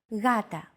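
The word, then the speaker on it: γάτα: One such example is the word gata, meaning cat. This is usually romanized with an initial G letter, but it is not pronounced gata. The first consonant is softer. Gata.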